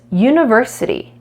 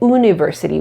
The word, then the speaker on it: university: now look at this university it's spelled with a vowel but it's not a vowel sound we don't say university we say University so that's actually a consonant why sound we're gonna say a university not an University on